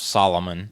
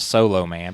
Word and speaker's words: Solomon: And for those who don't understand, the wisdom of Solomon is one of the powers of Shazam, but when they were trying to go through the power, somebody pronounced it Solo Man because they don't know who Solomon is.